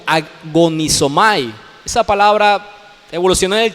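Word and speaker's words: ἀγωνίζομαι: La palabra que se traduce aquí por esforzarse es una palabra griega que se pronuncia como agonizomai.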